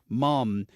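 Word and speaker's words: Muhm: Charles County, Tanya Mum is getting my endorsement.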